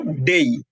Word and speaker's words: day: এন্ড ডি এ ওয়াই থাকলে আমরা বলবো ডেই।